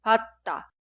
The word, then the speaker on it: 받다: La segunda palabra se escribe así, pero se pronuncia 받다, 받다, 받다.